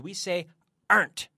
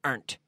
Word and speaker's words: aren't: the pronunciation here because we say aren't it's one syllable natives always pronounce this as one syllable earnt aren't where as my